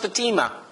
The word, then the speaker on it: Fatima: F you know that it's actually pronounced Fatima Fatima was the daughter